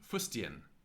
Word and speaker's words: fustian: What is TI before a vowel pronounced like? Like C, unless S goes before T, as in fustian, fustian, etc. So, fustian, here, T before a vowel pronounced like C, unless there's an S before.